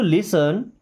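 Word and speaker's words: listen: देन why don't you लिसन? Why means क्यों? Don't मी्स नहीं। यू मी्स आप लिसन इस वर्ड में टी साइलेंट है।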